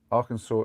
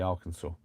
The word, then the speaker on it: Arkansas: oh, that must be Arkansas. But there's a few places like that where the pronunciation is just not what you'd expect at all.